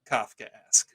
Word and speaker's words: Kafkaesque: learned how to from the best now that's kofka ask all right well this episode did teach me how to pronounce Kafkaesque so I give it credit for give it